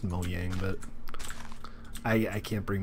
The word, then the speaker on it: Mojang: entryway here Oh yang I know it's pronounced mo yang but I I can't